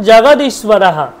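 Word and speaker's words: জগদীশ্বরঃ: সাথে আছে ঈশ্বর ঈশ এবার লাস্টে বিসর্গ থাকলে হ এর মত উচ্চারণ করি আমরা ঈশ হয়ে গেল তারপর দেখুন জগদীশ্বরাহ জগদীশ্বর আমরা বলি জগদীশ্বর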